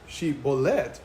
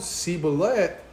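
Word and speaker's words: שיבולת: Los hombres de Jefté al llegar hombres para cruzar decían, les decían que les decían que pronunciaran shbolet, ¿verdad? Y si lo pronunciaron sibulet, sabían que eran de Efraín y los degollaban, que les cortaban el cuello.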